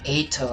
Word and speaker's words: Ato: Ato. I've been saying his name wrong. Not Aito. Ato. Oh no! We're too late! The lights left his eyes and his soul. Oh yeah. A-I-U-E-O. E-U-E. Yup, Ato. A.